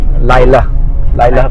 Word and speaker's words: Lylah: Pronunciation बहुत लोगों को दिक्कत आती है प्रोनाउंसिएट करने में, बट इट इज लाइला perfume.